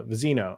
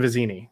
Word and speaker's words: Vizzini: or through uh yeah fazzini and then uh vizino uh i think i completely butchered those names um but fesic and vizzini there we go uh if you haven't learned